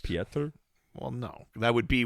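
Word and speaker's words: Pieter: i e t yeah it's still pronounced Peter it's just Peter well no that would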